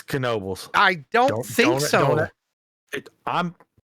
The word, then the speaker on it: Knoebels: feel like it is wouldn't it just be Nobles no it's Knoebels I don't think so I'm been there four